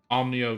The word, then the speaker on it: Onimyou: special in any way omnio chamber that's that's how it's pronounced true but i can